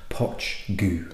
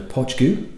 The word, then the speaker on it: Poit Dhubh: is a blended malt which is called as pronounced poach goo it is Gaelic words it's the gala pronunciation so it's spelled different to how it's actually pronounced so Podge goo is is how you wanting to pronounce this